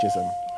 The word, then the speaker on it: Chisholm: Rhymes with Chisholm. That's a weird surname, isn't it? Chisholm rhymes with Chisholm.